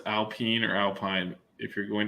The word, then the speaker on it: Alpine: watch a video of a french guy saying how to pronounce alpine by right now and it is alpine okay so okay i